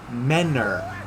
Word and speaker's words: Mentor: Like, I grew up in a city called Mentor, but everyone from there pronounced it Menor with no T.